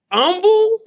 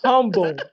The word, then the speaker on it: Humble: We say humble. When I got down here, these boys said humble. Like the H is silent.